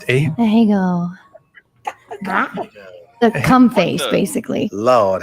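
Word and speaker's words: ahegao: How's it pronounced? Ahego.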